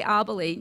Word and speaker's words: Abele: pronouncing your last name is it a bell or abel obviously i'll believe i'm completely wrong that's fine all right so now we have that right abele now tell us you